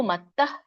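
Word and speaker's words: मत्तः: ಸೊ ವಿಸರ್ಗ ಇರೋದ್ರಿಂದ ಸ್ವಲ್ಪವಾಗಿ ಹ ಉಚ್ಚಾರಣೆ ಮಾಡ್ಬೇಕು. ಮತ್ತಃ ಪರತರಂ ನಾನ್ಯತ್, ತೋಕಿ ವ್ಯಂಜನ ಇದೆ.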